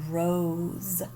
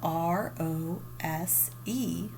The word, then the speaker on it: rose: could be it's a rose so rose is spelled r o s e but the s makes that z sound in it so when we see this we'll say rose z s all right let's add